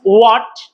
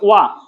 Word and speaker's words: what: তো ইটস হোয়াট, ইটস নট হোয়া, ইটস ওয়া।